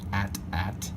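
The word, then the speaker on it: AT-AT: is an 8080 or officially pronounced according to George Lucas at at well really curious myself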